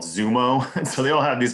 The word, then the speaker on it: Xumo: So I know in the case of Zumo, which is spelled XUMO, that on that one in December, Playing for a Way Out was in the top 5 on their app.